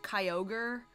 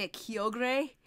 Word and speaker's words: Kyogre: it was a while when I pronounced Kyogre in a weird way it was like I was calling Akio grey I think I thought there was like an e at the end and I wanted to